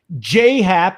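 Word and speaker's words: Happ: You guys mispronounce J Hap. He's been in the league 20 freaking years. J, not J-A-J.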